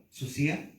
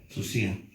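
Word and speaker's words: θυσία: Susia, con acento en la I latina al final. Susia, D-S-U-S-I latina, con acento A. Susia.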